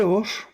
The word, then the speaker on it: Hor: El monte Hor, su pronunciación es Hor, es montaña.